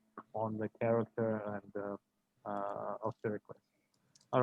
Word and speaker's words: Pericles: How do you say Pericles? Pericles. Pericles from his country place,